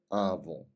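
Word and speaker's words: avô: нету бабушки и дедушки они произносятся практически одинаково а вон у аву аву бабушка и дедушка и остались два слова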